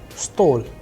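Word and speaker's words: стол: you have seen that the role of udar india is falling onto o when we are pronouncing store when we are pronouncing stol it is again on o same is the case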